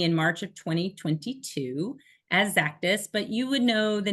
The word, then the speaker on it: Xactus: everyone has heard of zactis and it is pronounced like Z zus with a z so think about Cactus with a z zus we hear a lot of exactus and for those of